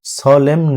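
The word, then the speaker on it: solemn: এর ইংরেজি অর্থ হলো সলেম নে এখানে এমটা সাইলেন্ট রাখবেন সলেম দিতে হবে কারণ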